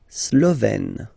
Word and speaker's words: Slovène: La Slovénie, so only one form here, Slovène. Slovène. Remember, E accent grave, you open it, E.